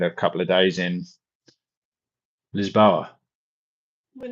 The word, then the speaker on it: Lisboa: couple of days in Lisboa. We're not going to Lisbon. Porto, Lisboa. Just saying. Because you said Lisbon. Oh, Lisboa. That's the Portuguese. Is that? Am I saying it the right way? Lisboa.